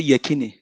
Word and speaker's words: Yekini: Yekini, say Yekini. Yekini.